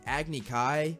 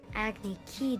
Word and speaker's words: Agni Kai: accept my invitation and they mispronounced so many other things like agni kai acne key duel and the most mind-boggling